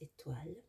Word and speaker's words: étoiles: And then we've got the plural, les étoiles. Liaison between the S in les and the initial E. We've got an accent aigu, which makes it an E sound at the beginning of étoile.